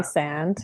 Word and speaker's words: Rhysand: And I like that you pronounce Rhysand's name, right? Correctly, because I read it as rice, like how, Rysand.